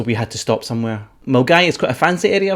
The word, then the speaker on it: Milngavie: a we town called mgy if you're not from Glasgow then the way it's spell it's completely different to the way you see it mg is north of